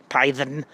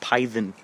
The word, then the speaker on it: Python: name Montgomery P python you don't even pronounce like python you just pronounce pyen hi hell so check